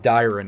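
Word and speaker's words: Dairon: Okay, the area is pronounced Dyron, not whatever I was doing before, so I guess we learned one thing here.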